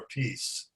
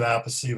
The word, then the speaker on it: Appice: guy I met before named Carmine Appice or Appice. I pronounce it Appice, but I think he pronounces it Appice.